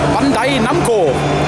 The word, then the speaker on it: Bandai Namco: Jetzt überhaupt verstehen kann, wir gehen jetzt nach Bandai Namco. So, ich habe es endlich mal richtig ausgesprochen.